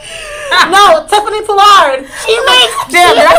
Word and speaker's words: Tiffany Pollard: I was about to say Tiffany Pollin. No, Tiffany Pollard. She makes. Damn, did I say her name wrong?